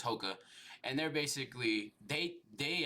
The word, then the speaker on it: Hoka: It's I'm I'm Yeah, I'm pretty sure it's Hokah.